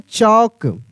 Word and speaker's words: chalk: तो यहाँ पे मेरे भाई एल साइलेंट हो जाएगा, यानी इसको हम पढ़ेंगे चौक, चौक।